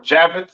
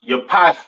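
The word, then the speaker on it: Japheth: right next we have jaffet all right or javet some people like to call it right um pronounce Yap in Hebrew these are your so-called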